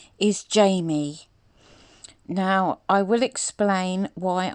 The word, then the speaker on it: Jayme: And AD continually got her name wrong. Her name is Jayme.